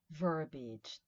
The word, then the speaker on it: verbiage: The pronunciation is interesting, right? Verbiage, two E's there, verbiage, too many words, right?